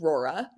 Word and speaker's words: Rora: So, our brand is called Rora.